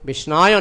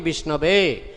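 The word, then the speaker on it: विष्णवे: Dhīraḥ vadati Vishnave. Those who are sober, real scholar, Pandita, scholar, they say, Om Vishnave Nama, pronunciation is correct. But Murkha means uneducated, he says Om Vishnaya Nama, pronunciation is wrong.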